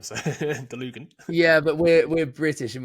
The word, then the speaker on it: Dlugan: No, I think that's correct. I would pronounce it exactly the same. So Dlugan.